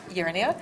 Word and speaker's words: Jernia: Jernia? Yes. I was getting the pronunciation right.